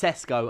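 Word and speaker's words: Šeško: It's Cesco and Jockarez.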